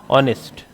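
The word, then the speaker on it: honest: यानी एच इसमें क्या है? साइलेंट। ठीक है? तो ह नहीं आएगा। यह आएगा ऑनेस्ट।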